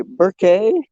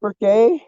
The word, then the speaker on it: Burke: It's we got Burke, and it's spelled weird because it's Burke. But people, you get your out of towners, they'll say Burke. No, or Burkett.